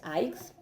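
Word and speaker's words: αἴξ: lo está avisando, porque aix tiene el acento en la sílaba ai, ¿no?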